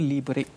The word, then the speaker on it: Liberate: Sebutannya Liberate. Ejaannya LIBER8. Yes, 8.